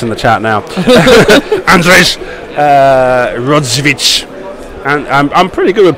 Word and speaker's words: Rodziewicz: Rodziewicz. And I'm pretty good with Polish names, but yeah, Andrzej, I've got no idea. Andrzej. Rodziewicz.